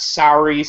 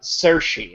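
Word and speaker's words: Saoirse: learned just today that it's not SAR Ronin it's uh cersi I think it's pronounced that's really weird sersi Ronin I'm pretty sure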